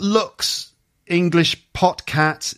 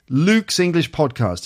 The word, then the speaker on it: Luke's English Podcast: word podcast correctly so it's not looks english podcats it's not uh looks english postcards okay luke's english podcast if you can say